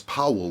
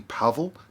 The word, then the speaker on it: Pavel: So this person's, well, it's Powell, but I'm sure the W is a V. Pavel R.